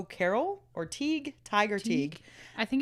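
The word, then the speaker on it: Teige: it's turn I know I thought it was Teague and I saw one that said Ty and I was like what so anyway Teague we'll say Teague o Carol oneeyed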